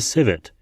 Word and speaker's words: civet: The cat we talk about in particular is the civet. I know that's pronounced right because I did look it up.